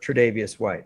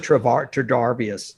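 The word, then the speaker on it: Tre'Davious White: win the super bowl if i could say his name properly without stumbling all over it tridevious white okay i had to do that i think i said trevor darvius yeah so his injury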